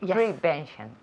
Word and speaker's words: prevention: it's well pronounced okay prevention prevention ah prevention yes the second syllable prevention prevention repeat prevention